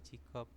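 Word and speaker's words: 직업: contohnya di sini jadi dari J Jig op dibacanya menjadi jikop bisa ya robun ini tinggal E bacimnya itu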